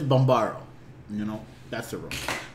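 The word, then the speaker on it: Bambarra: The Bombada. You said that beautiful just now. But it's Bombaro.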